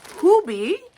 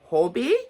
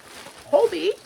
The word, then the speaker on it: Hobbii: So, we are going to be talking today about Hubie. Is it Hobby or Hubie? I know it's not hobby. That's American. Get that out of your mouth. is not hobby. Pronounce it the hubie. Hobie, you guys.